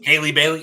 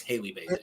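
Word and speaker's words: Halle Bailey: I mispronounced her name the way you pronounce her name is the same way you say Halle Berry it's Holly Bailey how hey Holly Holmes Haley Bailey it's Haley Bailey Haley Berry I was saying it incorrectly so I just wanted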